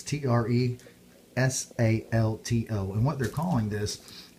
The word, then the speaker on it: Tresalto: I'm not sure how to pronounce this, Tresalto or Tresalto, but it's Tresalto.